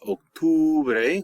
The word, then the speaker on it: octubre: Notice in October it's octubre with a U there, octubre.